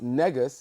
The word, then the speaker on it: Negus: but when we pronounce negas it sounds like right because